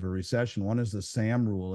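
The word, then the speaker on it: Sahm: One is the SAM rule. It's named after an economist named Claudia Sam, S-A-H-M. I may be pronounced, it could be Sam.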